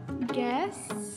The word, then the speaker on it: guests: -Guests. -Guests. -Arrive. -Arrive. So the "u" is silent.